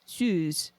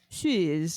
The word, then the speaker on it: Suze: It's a French thing. Suze. Shiz is like there's like a weird U in it.